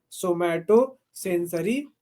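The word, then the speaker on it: somatosensory: नहीं, तो आप लोग उसको बोलिएगा सोमैटो सेंसरी कॉर्टेक्स। ठीक है, स्पेलिंग लिख लीजिए उसका, हम लिखा देते हैं। जोमैटो जैसे लिखते हैं ना, वैसे ही सोमैटो।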